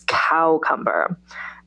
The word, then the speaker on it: cucumber: So cucumber becomes cowcumber.